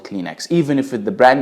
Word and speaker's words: Kleenex: Number one, Kleenex. Of course, Egyptians do not pronounce it Kleenex. They pronounce it Kleenex.